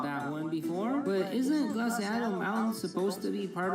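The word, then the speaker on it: Glaseado: First of all, it's pronounced glaciado.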